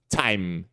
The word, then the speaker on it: time: diferente Ok então exemplos esse aqui é o t regular né o o t normal por exemplo que é o true T que eu acabei de mostrar time time aí aqui você tem a né A Explosão zinha de ar né time tá e o